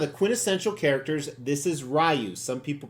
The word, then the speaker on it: Ryu: Yes, that's how I say his name, RYU.